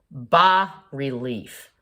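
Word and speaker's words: bas-relief: this video is called BA relief okay it's French so you don't pronounce the S Bao relief sculpture in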